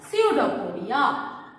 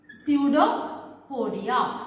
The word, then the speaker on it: pseudopodia: it is we call pseudopodia p is silent in pseudophoria pseudopodia pseudopodia means another name